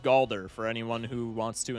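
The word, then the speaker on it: Galdur: This mod is called Galder for anyone who wants to install it. It is spelled the same way as Baldur's Gate 3, but with a G. Galder.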